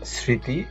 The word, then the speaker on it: স্মৃতি: স্মৃতি, এখানে মোটা উচ্চারণ হয়নি কিন্তু এখানে সানুনাসিক উচ্চারণ হয়েছে এবং চন্দ্রবিন্দুটা এখানে রয়ে গেছে।